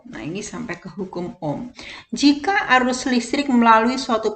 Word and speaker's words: ohm: itu hambatan kawat satuannya Oh itu simbol seperti itu bacanya Om ya kemudian kru itu